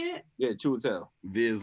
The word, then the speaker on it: Chiwetel: Yeah, Chiwetel.